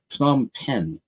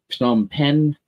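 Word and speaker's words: Phnom Penh: is and that's uh P pen it's really hard for me to pronounce because it's P and H and then n right together a lot of consonants but I believe it's P pen uh please correct me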